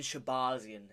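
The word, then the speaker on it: Shahbazyan: Moving on to Edmund Shabazian, is how you say it, and Dylan Budka.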